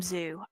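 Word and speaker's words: Zuh: It is spelled Z-U-H, but so you can call him Z. I call him Zoo. I am of the belief that either is appropriate, but if our previous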